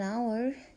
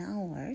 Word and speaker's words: hour: university I need an hour to finish my work I need an hour to finish my work I he lives some words that begins with H the H is not pronounced young man frozen at